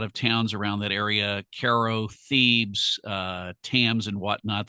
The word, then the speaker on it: Cairo: Caro, Illinois. It's pronounced Ko, but it's spelled like Cairo, Egypt.